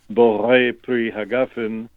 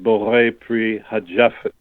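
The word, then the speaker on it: בורא פרי הגפן: So when we make the blessing on the wine, Borei Pri Hagafen, the Yemenites pronounce it Borei Pri Hajafen.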